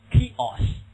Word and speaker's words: chaos: ，那怎么读这个词 chaos，嘿，很难受啊，那